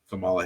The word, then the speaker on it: Kamala: can tell them the approach now of course Kamala Harris that is how you pronounce her name which is surprising to me